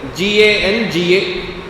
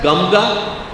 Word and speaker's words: ganga: When I write a spelling g a n g a how do you pronounce it? In Hindi or Sanskritam when you write it ga the anuswara and then ga would you pronounce it as gamga?